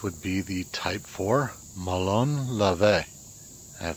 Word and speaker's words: ΜΟΛΩΝ ΛΑΒΕ: for Malone levae and finally learned how to pronounce it it has taken me forever and I screwed it up on my first three videos so finally video number four on this series its Malone Ave and this would be